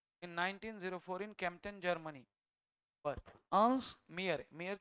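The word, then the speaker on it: Mayr: हा माणूस है ना 1904 ते 2004 अंश मियर असा रिस्पेक्ट असला पाहिजे या माणसामध्ये बघा ना born on July fifth in 1904 in Germany अंश मियर मेयर ची स्पेलिंग बघा एम ए वाय आर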